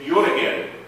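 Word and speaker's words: Jó reggelt: Isso aqui a gente pronuncia o J e o I, então isso aqui é Jöregel.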